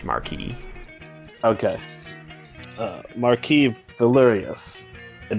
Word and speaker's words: marquis: will speak and say marquise is that his fault marquise uh yeah it's it'd be pronounced marquee okay uh marquis valerius